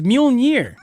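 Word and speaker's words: Mjölnir: refurbished so here's what how do you say it it's mjolnir i've been calling ever since the first store i've been calling it no it's mjolnir i put five dollars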